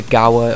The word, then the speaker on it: Gewehr: I believe it is Gewehr, but I think a lot of people just call it the Gauer or something like that.